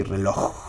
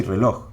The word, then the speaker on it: reloj: Spanish for watch is reloj, with a J at the end. You don't say reloj. You don't pronounce it. You say reloj. So it's kind of a silent J.